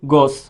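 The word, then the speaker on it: gauche: इसको बोलते हैं गोस। थोड़ा सा याद रख लेना ऐसे, ये प्रोनाउंस करना है इसको, गोस।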